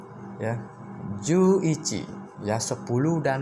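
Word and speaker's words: 十一: Nah, jadi pengucapannya 10 dulu. 10 apa? 10 yaitu ju. Ya. Ju 1 apa? Ichi. Ya, maka jadinya ju ichi. Itu dia. Ju ichi.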